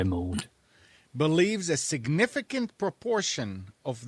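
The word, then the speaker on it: Maude: the cabinet office Minister Francis mod am I saying it right Steve attempt to particularly know nor does it m-a-u-d m-a-u-d-e yeah mode believes a significant proportion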